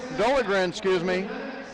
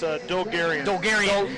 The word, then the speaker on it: Dolgarian: against the freshman Isaac Dolgren, I'm trying to make sure I pronounce his name correctly. It's Dolgarian.